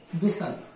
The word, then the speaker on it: whistle: इसी प्रकार WHISTLE, इसके अंत में क्या है? TLE, इसे क्या पढ़ा जाता है? विसल। इसमें टी का उच्चारण नहीं होता है।